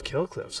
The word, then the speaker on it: Kill Cliff: winning energy kale cliff spelled k i l l c l i f f pronounced kill cliff noun definition 100 winning in